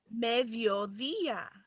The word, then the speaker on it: mediodía: Now the next one is mediodía. Mediodía. So what does that mean? Medio. Noon. Noon. Noon, right? How you pronounce?